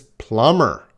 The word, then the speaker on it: plumber: This is plumber. Plumber. Plumber. There is no B sound.